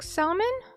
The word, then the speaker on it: salmon: Oh, the L is silent.